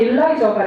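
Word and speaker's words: Eliza: 작은 아씨들을 보신 분들이라면 그렇다고 버전의 작은 아씨들을 보신 분들이라면 경약한 베스 역을 맡았던 엘리자 스탠턴, 이게 본토 발음을 하면 일라이저가 되더군요.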